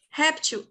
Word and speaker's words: réptil: é igual a hieróglifo admite duas grafias e admite duas pronúncias só que na boca do povo as pessoas falam réptil mas também é correto tirar esse acento do e se pronunciar repetiu sem saber disso réptil Tá super correto e aí o plural também muda ficaria repetir sem o acento no e tá Então galera revie